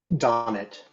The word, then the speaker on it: Donat: Correct my pronunciation if you choose to there, Chris. Chris Donat. Donnet. Chris Donnet.